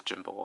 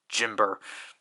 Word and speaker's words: Jimber: so i know like technically my pronunciation on jimba is wrong because i pronounce it how they pronounce it because the roman because obviously the official romanization is jimber jimber just never sounded right for me so i've always just